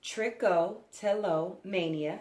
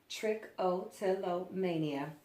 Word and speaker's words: Trichotillomania: It's pronounced Trichotillomania, as you can see here. Trichotillomania.